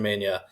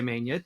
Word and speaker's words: Mena: Cristian Mena, no tilde. So we were tempted to say Mena. It makes sense, but Cristian says no tilde for me. It's Mena.